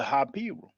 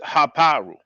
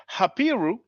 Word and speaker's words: Hapiru: Now, brother JJ 7000 at one point talked about the Hapiru. Many people who are English speaking uh pronounce it Haparu.